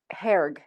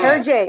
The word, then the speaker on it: Hergé: Luke, have you always been inspired by Herg? Hergy? Oh, Her- Hergé, yeah. Hergé. I'm so sorry.